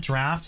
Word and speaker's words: Draught: Okay, I will say for the purposes of the guide, I'm pretty sure it's supposed to be pronounced draft. But everybody in the BDO community started calling it a drought, and we're so committed at this point that there's no turning back.